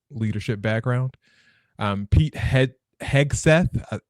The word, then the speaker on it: Hegseth: background um Pete he hegseth I was pronouncing the G as a j for the longest time